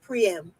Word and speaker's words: Priam: wrong calling him Priam his name is not prime it's priyam but anyway because they